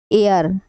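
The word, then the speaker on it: heir: ऐसे ही N umbrella N एयर एयर मतलब होता है इसमें एच साइलेंट है यह होता है उत्तराधिकारी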